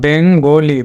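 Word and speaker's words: Bengal: শেষের আইটা কিন্তু একটা ফোঁটা হবে, এ হলো বেঙ্গলি।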